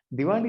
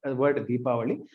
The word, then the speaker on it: Deepavali: Diwali is not wrong. However, it is derived from this Sanskrit word Deepavali.